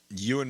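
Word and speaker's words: Ewan: Euan McGregor.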